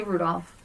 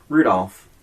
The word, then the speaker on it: Rudolph: So, wait, how do you say Rudolph? Rudolph. Yeah. I think it's our friend Jen. She says Rudolph. Like, there's no L. And I'm like, no, there's an L in that.